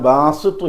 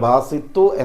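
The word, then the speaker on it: باسط: ഏത് ദിക്ർ ആണെന്ന് ചോദിച്ചാൽ അത് "യാ ബാസിതു യാ അല്ലാഹ്" എന്നാണ്. "യാ ബാസിതു യാ അല്ലാഹ്," അത് "യാ അള്ളാഹ്" എന്നതുമായി സംയോജിപ്പിക്കുക - ഉച്ചാരണം ശരിയാണെന്ന് ഉറപ്പാക്കുക, അത് ബാസിതു അല്ല, ബാസിത് ആണ് - "യാ ബാസിതു യാ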